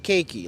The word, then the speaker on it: Kiki: It's pronounced cakey like cake.